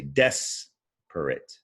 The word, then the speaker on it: desperate: is the stressed syllable when you read desperate you say desperate you stress that first syllable but depressed you stress the second syllable and so another difference